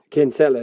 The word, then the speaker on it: Kinsella: How do you say it? Kinsella? Yeah, Kinsella is what you'd say, yeah. Yeah, it's always Kinsella, that's what I always thought.